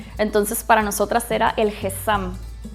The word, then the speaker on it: hezzam: Bueno, se escribe es H e Z a m y creo que se pronuncia Gesam.